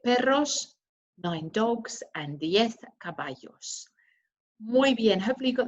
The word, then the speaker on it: caballos: eight cats nueve perros nine dogs and the caballos muy bien hopefully you got that right just want to draw your attention to a couple of things in there remember a pronunciation between kobayo it's very similar so kobayan guinea pigs cabbage